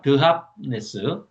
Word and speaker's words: 드합네스: 다바네스가 이제 원래 이름은 드합네스입니다. 드합네스. 지금 지명으로는 타니스, 예, 타니스라고 그러죠. 그런데 이제 우리 옛날 할아버지들이 발음이 잘 안 되니까 다함네스 무슨 지명이 이렇게 어렵냐 그래서 발음하기 좋게 다바네스 아주 좋아요. 다마네기 이런 겁니다.